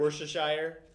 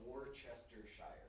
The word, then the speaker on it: Worcestershire: It's Worcestershire. Worcestershire.